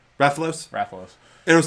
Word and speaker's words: Rathalos: Rathalos.